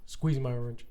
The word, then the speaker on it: SQZ My Orange: It's SQZ My Orange." And she's like, "Squeeze My Orange." I'm like, "Oh, that's what it stands for."